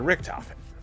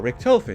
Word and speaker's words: Richtofen: More specifically, we have Tank Dempsey, Nikolai Valinsky, Takeo Misaki, and Edward Richtofen, or Richtofen, depending on how you want to pronounce his last name.